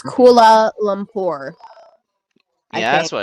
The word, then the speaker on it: Kuala Lumpur: Kuala Lumpur against Pagan. It's Kuala Lumpur.